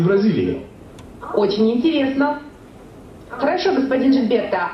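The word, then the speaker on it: Gilberto: Могу я спросить, как правильно произносится ваше имя? Хосе Жильберто. Гильберто. Правильно? Гильберто? Нет, Жильберто.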